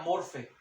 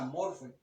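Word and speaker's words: μορφή: les dije ahí aparece una palabra griega que es la palabra que se pronuncia morfe Así es el sonido así queda morfe es el sonido de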